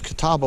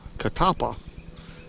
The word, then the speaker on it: catalpa: I'm sure y'all use Catawba worms We call we call them Catawba worms here but it's not spelled that way it's Catalpa catapa I don't know everywhere